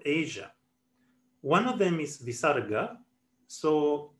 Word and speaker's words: visarga: one of them is visarga so the pronunciation i'm most accustomed to is to pronounce bisarga as a slight repetition of the last vowel sounds that precedes it so for example there